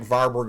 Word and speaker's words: Warburg: of European languages and I'm sort of in the habit of pronouncing it like a V so you can pronounce it as varberg or warberg effect either way all